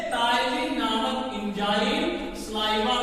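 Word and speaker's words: ptyalin: देखिए यहाँ पे जो है पी साइलेंट होता है, इसको PTYLIN लिखते हैं, टाइलिन।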